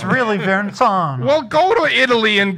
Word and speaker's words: Verrazano: But it's really Verrazano.